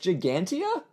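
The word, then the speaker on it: Ġgantija: Se pronuncia Gigantea? Então por que está escrito desse jeito?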